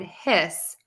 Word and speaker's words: hiss: that s okay so I'm going to say his with the Z and then hiss with an S okay his hiss his